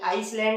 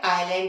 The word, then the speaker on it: island: उसी तरह से आइल, ISLE, आइल, ऑयल मतलब होता है द्वीप, तो इस तरह से इन्हें हम लोग आइसले या आइसलैंड नहीं पढ़ते, बल्कि क्या पढ़ते हैं, आइलैंड और आई।